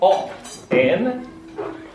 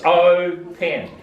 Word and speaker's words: open: And it's a long, it's not op, N, it's O, pen.